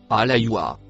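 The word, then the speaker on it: الحياة: Le mot vert se prononce alaywa.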